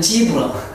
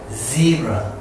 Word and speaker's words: zebra: 근데 우리는 저것도 아니고 이것도 아니고 우리는 지브라, 지브라. 뭐 욕하는 것 같아, 지브라. 이 지브라 되겠습니까? 지브라 하지 말고 zebra, zebra 또는 영국식으로 zebra.